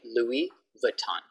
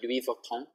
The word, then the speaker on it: Louis Vuitton: In English, we just say Louis Vuitton. Louis Vuitton. But it's French, so Louis Vuitton. But we can just speak like English, Louis Vuitton. No S sound, no S sound.